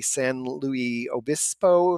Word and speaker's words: San Luis Obispo: I want to say San Luis Obispo, if I'm not going to pronounce it right.